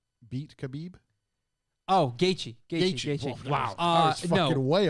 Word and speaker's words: Gaethje: I'm going to mispronounce this, but can Gaviv beat Khabib? Oh, Gaethje.